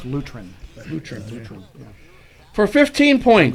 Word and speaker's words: Lutheran: bell Caleb countries on Lutheran incorrect Anglican the Church of England that's pronounced luterin new transition for a